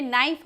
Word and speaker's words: knife: जैसे रोमन में नाइफ हम बोलते हैं, नाइफ बोलते हैं तो KNIFE नाइफ लिखा हुआ है। तो नाइफ में क का उच्चारण साइलेंट है, वह सुनाई नहीं पड़ता।